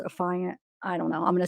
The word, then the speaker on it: affiant: if you Google it they say that it's pronounced affiant I don't know I'm gonna say a fine